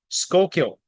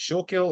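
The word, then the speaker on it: Schuylkill: how you say it shul kill or what anyway skull kill county is how they say that I just want to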